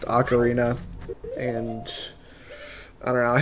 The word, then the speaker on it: ocarina: he was saying yeah it's okarina not Ocarina haha you're wrong and then I went and looked it up it is pronounced acarina and I don't know